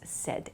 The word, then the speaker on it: said: It sounds like S-E-D, the pronunciation, but it's said.